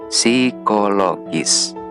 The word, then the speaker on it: psikologis: Nulisnya psikologis, tetapi dibacanya psikologis.